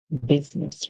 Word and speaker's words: business: public our next word business remember in business the U makes a song like short I so we go book